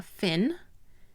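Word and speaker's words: phin: using a cup shaped filter believe called a fin p-h-i-n but you can use a pour over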